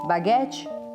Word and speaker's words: baguette: A pronúncia sempre aqui é diferente. Baguette, baguette.